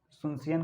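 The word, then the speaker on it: Asunción: होगा एसोसिस ठीक है य यहां पर साइलेंट रहेगा तो सुनसन करके इनका कैपिटल है और उसका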